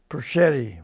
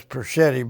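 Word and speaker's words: Persichitti: Hello, my name is Perschitti. We pronounce it as Perchetti, but it's Perchetti.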